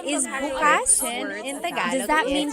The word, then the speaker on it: bukas: If you say bukas, the emphasis is on the second syllable. Bukas is tomorrow. If you say bukas, means open.